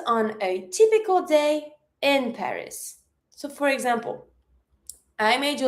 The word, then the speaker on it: Paris: One thing when it comes to the name of the city in French, we never pronounce the S. So, careful. It's not Paris, like we say in English, it's Paris.